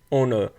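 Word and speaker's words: honour: आ रही है आवर तो एच यहां पे साइलेंट है तो वहां पे एन यूज हो रहा है ऐसे ही एन ओनर तो ओनर की बात हो रही है यहां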